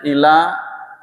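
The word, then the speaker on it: إِلَى: Tapi kalau dibacanya ila, tidak mengerti kecuali kepada orang alim. Salah. Artinya ila tanpa tasydid artinya kepada. Illa dengan tasydid artinya kecuali.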